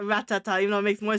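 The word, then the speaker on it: Rattata: They totally used to say Ratata when we were kids. That's why I always pronounce it as Ratata and not Ratata, even though it makes more sense to pronounce it as Ratata.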